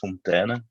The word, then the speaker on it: Fonteinen: It's Fonteinen. So Fonteinen. So it's a bit more the Fonteinen, a bit more pronounced in a kind of a Flemish or really Dutch way.